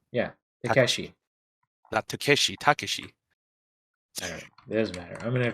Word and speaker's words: Takeshi: think I think it's Takeshi like no Japanese were just supposed to pronounce each one separately so it's Takashi right yeah Takeshi Takeshi there's matter I'm